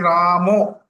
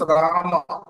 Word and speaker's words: Rama: Actually, why the Ramo came is because the pronunciation of Bengalis. Their pronunciation is like that. But when we can pronounce properly, we have to pronounce Rama. Rama. It is not Ramo.